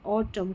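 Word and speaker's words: autumn: इसको म करके प्रोनाउंस करते हैं। एन साइलेंट है इसमें। जैसे ऑटम कॉलम और हिम।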